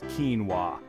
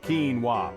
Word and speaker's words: quinoa: the correct pronunciation is quinoa it's as simple as it sounds quinoa the emphasis is on the first syllable Keen repeat after me Keen wa perfect now imagine you're